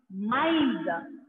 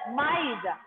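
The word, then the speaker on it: maïs: Example, first one is maize. Maize. See the spelling? M-A-I-S. Maize.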